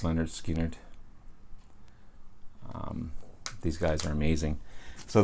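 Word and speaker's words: Lynyrd Skynyrd: want but um is linda skinner i don't know how that's missed these guys uh this is uh street survivor i'm awesome awesome awesome second helping and pronounced leonard skinner these guys are amazing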